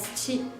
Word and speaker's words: qi: Remember, initial qi sound is different of ch sound, so you need to be careful to pronounce initial qi.